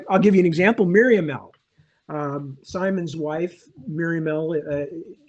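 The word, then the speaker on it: Miriamele: on the fact that the language it came from was sort of latinate the nibandi language her name should be Miriam Mela or Miriam melee or something along that lines the e at the end should actually be pronounced yeah but long ago I gave it much more of a almost like got modern French pronunciation um because that I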